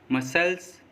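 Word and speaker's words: muscles: सी silent, S के बाद आया सी साइलेंट होता है, मतलब जब किसी वर्ड में एस के बाद सी आएगा तो एस के बाद आया सी साइलेंट होगा, जैसे accent, science, seizures, disciple, मसल्स, scene, इन सभी वर्ड्स में एस के बाद सी आया है और एस के बाद आया सी साइलेंट रहता है।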